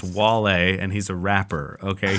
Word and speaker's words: Wale: oh it's Wally Thomas his name is pronounced Wale and he's a rapper